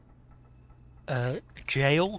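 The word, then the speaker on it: gaol: Jail, spelled G-A-O-L, is like Old English, the way to spell jail.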